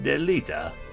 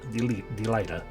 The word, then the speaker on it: Delita: It ended with the appearance of a young hero named Delita. Or Delita. Delita.